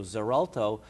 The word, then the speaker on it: Xarelto: Xarelto it's set its its pronounceable to Z sound but it's spelled with x.x a re lto so Xarelto or the generic name